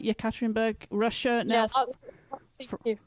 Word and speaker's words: Yekaterinburg: And you're there in Yekaterinburg, as you pronounce it. Is that right? Yekaterinburg, Russia.